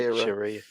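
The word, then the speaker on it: Shiera: Yeah, you're right, Shira.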